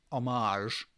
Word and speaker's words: homage: one is is an obvious homage um which is how writers pronounce homage to the last of